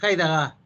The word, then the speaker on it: Heidegger: Ella fue alumna de Heidegger, se pronuncia en alemán al parecer, Heidegger, pero vamos a decir Heidegger, del existencialismo alemán, ¿ya?